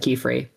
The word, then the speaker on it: Qifrey: Maybe spell like key like a Key. Yeah. And then free like Free. Yeah. Key free.